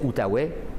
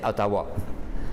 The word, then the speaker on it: Outaouais: les fours eux mais les français prononcés outaouais et les anglais prononcer à tahoua donc c'est pour ça